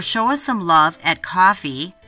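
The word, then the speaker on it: Ko-fi: us some love at coffee that's spelled KO - fi com where you can buy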